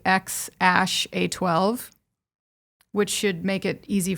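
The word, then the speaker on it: X Æ A-12: it was so it's it's pronounced apparently x ash a12 which should make it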